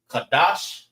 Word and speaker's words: Qadash: Qadash is how you say month. All right, without the S.